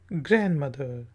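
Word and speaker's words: grandmother: Maternal ग्रैंडमदर। D silent है।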